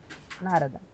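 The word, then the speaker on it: नारद: Нарада. Вот, как правильно? То есть ты тянешь первую А и при этом делаешь ударение на вторую А.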